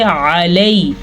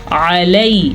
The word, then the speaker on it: عَلَيْ: ساتھ ادا کریں گے۔ علی، علی، یہ یالین ہے، یا ساکن سے پچھلے حرف کے اوپر زبر ہے تو یہ یالین ہے، یہ نرمی سے پڑھا جاتا ہے اور اس